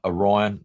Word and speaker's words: Orion: So, anyway, this is I said the Orion, like as in I I pronounce it Orion, like as in Orion's Belt, the constellation.